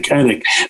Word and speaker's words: Anik: Rogan and DC and, Annis, John, am I pronouncing his name right? John Anik. Anik.